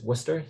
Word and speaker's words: Worcester: repositories and all that um free time-wise uh worcester massachusetts second biggest town in new england even though it is worcester and you probably never heard it before um